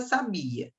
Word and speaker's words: sabia: eu tenho a palavra sabia que vem do verbo saber deve saber no tempo pretérito imperfeito do modo indicativo ah eu sabia e qual é a sílaba tônica é o Bia tem acento não não